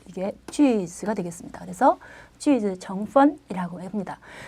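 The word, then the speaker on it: 句子: 자, 문장 성분을 볼 때 이 문장이라는 말을 중국어로는 쥐즈라고 합니다. 그래서 문장 성분을 중국어로 쥐즈 정펀이라고 이렇게 얘기를 합니다. 발음이 이게 쥐즈가 되겠습니다.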